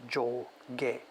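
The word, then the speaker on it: 上下: in a group it's up down which would be pronounced joel gay part one part two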